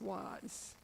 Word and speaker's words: Oise: Okay, and then from the south of France now, he went up to Avar-sur-Oise, O-I-S-E, I've been told it's pronounced was.